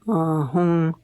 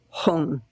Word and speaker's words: Hum: And probably the most simple one is doing the mantra Om Ahum Benza Guru Pema Siddhi Hum. Om Ahum can be spelled H-U-M or H-U-N-G.